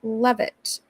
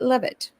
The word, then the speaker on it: Leavitt: Leavitt is pronounced Levitt. Kevin. Oh, thank you so much, Jack Waters. I appreciate it. Levitt.